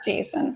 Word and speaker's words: JSON: It's like it's the name according to the creator. It is Jason.